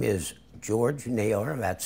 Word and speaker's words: Naylor: you folks and um my name is George nailor that's spelled n a y l o r and